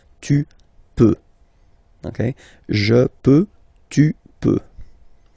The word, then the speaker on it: peux: Then tu peux, same pronunciation and same spelling or writing, okay, P-E-U-X, okay, you don't pronounce the final X, tu peux, okay, je peux, tu peux.